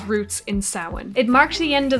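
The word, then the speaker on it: Samhain: the old Celtic Pagan Festival of sin commonly mispronounced in TV shows as Sam Hayne uh if I'm right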